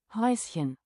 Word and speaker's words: Häuschen: How is this pronounced? Häuschen.